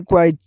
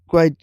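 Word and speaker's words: quiet: इसकी प्रोनाउंसिएशन जो आखिर में टी है उसको हल्का सा रखना है, जैसे कि क्वाइट, क्वाइट।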